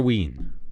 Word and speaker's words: Wien: against Austria V Austria wien I know how to say vien in German V Austria OST